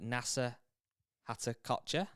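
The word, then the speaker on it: Nasa Hataoka: On the LPGA Tour this weekend, I'll try and say her name correctly, Nasa Hatakotcha.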